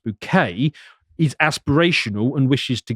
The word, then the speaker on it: Bucket: One of the daughters of this family, Hyacinth Bucket, pronounced Bouquet, is aspirational and wishes to go upwards.